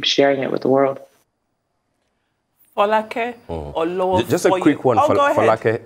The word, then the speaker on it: Folake Olowofoyeku: Folake Olowofoyeju. Just a quick one, Folake. It's so nice to hear my name pronounced.